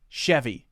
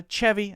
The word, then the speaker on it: Chevy: of this one is Chevy yes most people will call it a Chevy not a chavvy and it looks like